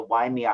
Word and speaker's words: Waimea: W-A-I-M-E-A. Oh, well, some crazy YouTube website called it Waimea, so I think you're right on how to pronounce it.